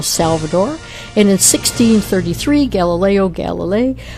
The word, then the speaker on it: Galilei: June 22nd is Teachers' Day in El Salvador, And in 1633, Galileo Galilei, how do you pronounce Galileo's last name? I usually say Galilei myself.